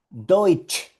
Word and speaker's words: Deutsch: Y aquí tenemos la combinación. Mírala, mírala. T-S-C-H. Y esto suena ch, Deutsch, Deutsch, Deutsch.